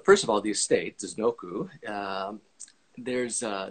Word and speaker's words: Disznókő: states noku there's uh there's two little accents that they'll at this last o so that's pronounced like a u so this doku and not this noko is the pronunciation of the estate and then the region